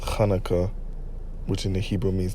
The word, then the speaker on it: Chanukah: Now this high holy day, the Feast of Dedications, okay, also known as what the world says Hanukkah, but it's supposed to be pronounced Chanukah, which in the Hebrew means dedication.